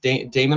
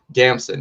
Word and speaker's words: Damson: the way that like what's his name, Idris, Damon Idris, did I say it right? Damson, yeah.